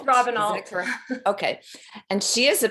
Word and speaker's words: Robenalt: How do you pronounce it? Robert. It's Robenalt.